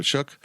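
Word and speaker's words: Shough: Tyler shook yeah yeah shook I know his name makes no sense how it's it's spelled sh or show yeah tell shook look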